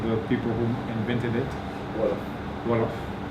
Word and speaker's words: Wolof: Wolof. Wolof. Like W-O-L-O-F. Some people spell in Gambia they spell it like that.